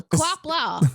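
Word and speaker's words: Qapla': you're saying it wrong didn't know you're saying Kapla an American accent you are kapler ker is that I know how to say it it's kaper Kapla it sounds like a like a car that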